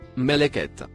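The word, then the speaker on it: ملكت: Les deux mots en surbrillance bleue se prononcent respectivement Meleket et Imenek.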